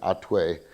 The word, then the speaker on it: Hatuey: hot to a or Otway we're still trying to figure out the pronunciation because in Spanish it would be out way but in in Yiddish it's got the hey so not sure if